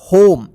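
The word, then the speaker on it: home: पढ़ेंगे देखिए यहां पे लास्ट में ई आया है और इस से पहले ओ है तो ओ का ओ उच्चारण होगा और ई क्या कोई उच्चारण नहीं होगा ठीक इसको पढ़ेंगे होम इसको होम में मत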